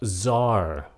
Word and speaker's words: czar: Chữ này là czar. Âm C nó câm.